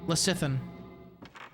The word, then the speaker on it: lecithin: Soft C and lecithin? Lecithin? It does sound like a GLP-1 variant. They love putting soy and stuff because it's cheap as fuck. Yeah, I don't know what you mean by soft C. Lecithin? Lecithin? Lecithin? I don't know what you mean by soft C, bro. As in, it sounds like an S.